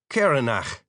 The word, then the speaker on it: Caranach: Caranach, an Irish name, where the final syllable would rhyme with rack, except that the CH sound is more like a guttural German thing instead of a hard K sound.